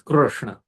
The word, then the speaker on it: Krishna: Krr is not so much pleasurable to the mouth. Kre is more pleasurable. Muksuk, Krishna. But accurate pronunciation is Krishna.